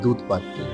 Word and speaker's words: Doodhpathri: Offbeat centre হলো এই দুধপাত্রি। চলুন এবার দুধপাত্রিটা কোথায়, কিভাবে যেতে হবে এবং এখানে বিষয়বস্তুটা কি আমরা জেনে নিই। দুধপাত্রি, যেটির উর্দু উচ্চারণ হচ্ছে দুধ পাত্রি এবং কাশ্মীরি উচ্চারণ হচ্ছে